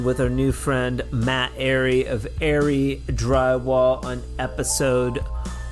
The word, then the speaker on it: Arey: Matt Ary, heaven forbid I call you Ari. Uh yeah, everybody does. So, it's probably annoying. You're like, "No, my name's Ary. Say it right."